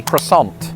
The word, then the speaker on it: croissant: For some reason in Britain with this word the French somehow convinced us to say that as quason. Now it feels weird that I'm saying it like that. In American they've just abandoned the French altogether with that particular word and they say croissant.